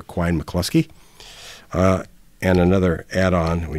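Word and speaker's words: Quine–McCluskey: we'll talk about the Quin mclusky algorithm some people pronounce it Quinn mclusky I mostly hear Quin mclusky uh and another add-on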